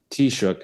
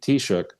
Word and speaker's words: Taoiseach: On Ireland, customarily, the president appears in public with the Taoiseach, is I think the way it's pronounced, Prime Minister of Ireland, on March 17th, which is not yet.